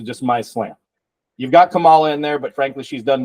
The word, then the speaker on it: Kamala: Is it Camila or Kamala? And I feel like I had this conversation now with 5 people, and this is what's funny. So and nobody knows. Kamala.